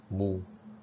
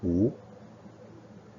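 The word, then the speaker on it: 無: The Japanese call it Mu. Okay, but Chinese we will pronounce this as Wu.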